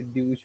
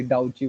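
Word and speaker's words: Deutsche: और उसके बहुत से प्रोनाउंसिएशन निकलते हैं, जैसे ड्यूश बोलते हैं, कोई डाउची बोलते हैं.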